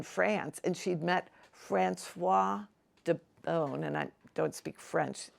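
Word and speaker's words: d'Eaubonne: from being in France, and she'd met Francois de Beaune, and I don't speak French. Is that how you pronounce D apostrophe E-A-U-B-O-N-N-E.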